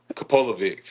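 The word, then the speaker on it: Kapilovic: Is that putting the pressure on you now when I ask you to pronounce the name? Kopolovic.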